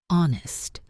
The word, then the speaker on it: honest: Castle silent t honest silent h.